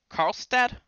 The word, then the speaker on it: Karlstad: are from Sweden right yeah a town called Carlstadt is that how you pronounce it yeah okay call stuff close enough